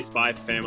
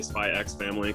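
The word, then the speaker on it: Spy × Family: yeah I mean it's it's why I say spy family I don't say spy X family because it's such a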